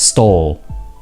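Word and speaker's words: Stawell: is the town called starwell storial now it's pronounced as stall it's one of the few towns in victoria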